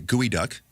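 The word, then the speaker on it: geoduck: But then we had the gooey duck which I learned how to pronounce last week.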